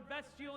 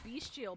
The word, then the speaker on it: bestial: I've picked up other voices and they sound rather bestial in nature. Oh, is that how you pronounce that? I've always said beastial, but I guess there's no a in there.